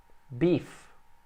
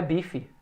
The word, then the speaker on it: beef: Sea, seafood, beef, que não é bife, beef é carne de gado, carne de vaca, somente.